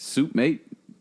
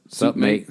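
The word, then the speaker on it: Sup Mate: I think it's Soup Mate. I think it's pronounced that. Sup, mate. Sup. Sup, Mate. Like Sup, mate. Australian. Oh, Sup, like- mate. Sup, Mate. Yeah.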